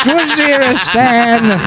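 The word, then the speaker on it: Waziristan: East Wazeristan. Actually, it's pronounced Wazeristan.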